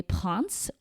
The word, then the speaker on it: Princes: Galerie Verdaudat, Galerie Vivienne, Passage des Princes, which is pronounced princes in English in case you need a visual, Galerie Colbert, Passage des Panoramas, and Passage Verdot.